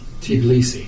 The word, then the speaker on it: Tbilisi: Tbilisi. Tbilisi.